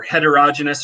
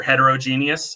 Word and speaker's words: heterogeneous: I've definitely heard people argue over whether, not so much with homogeneous, but whether heterogeneous or heterogeneous is the correct pronunciation.